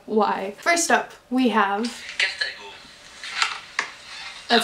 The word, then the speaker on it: Carthago: Carthago.